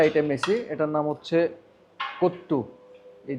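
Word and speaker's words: Kothu: পাশাপাশি আমরা আরেকটা আইটেম নিছি এটার নাম হচ্ছে কুত্তু এই যে কে ও টি এইচ ইউ এটাকে ওরা হচ্ছে লোকালি বলে প্রোনাউন্সিয়েশন হচ্ছে কুত্তু এটা এটার প্রাইস হচ্ছে 800 রুপি যেটা বাংলাটাকে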